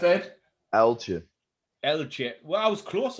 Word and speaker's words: Uiltje: How's it pronounced, Ed? Uiltje. Uiltje. Well, I was close earlier, wasn't I? No. I said Uiltje.